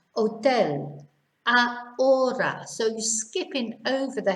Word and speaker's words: hotel: words here oh tell we just ignore the h as if it's not even there hotel so you're skipping over